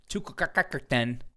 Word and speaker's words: Chutkan: Donald Trump's trial date set by Judge Chutkan, which that's how you pronounce it, and if you just say otherwise